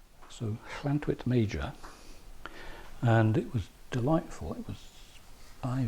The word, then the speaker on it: Llantwit Major: It looks like Lantwit, but it's spelled double L-A-N-T-W-I-T, maybe two T's, I'm not sure. But in Welsh, the Welsh language, when you have two L's together, it tends to be pronounced as ll.